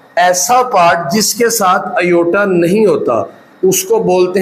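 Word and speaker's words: iota: Minus की वजह से एक नंबर आता है जो जिसको पढ़ते हैं आयोटा जिसको क्या पढ़ते हैं? जी आयोटा। इसके जो स्पेलिंग है वो आई ओ टी है।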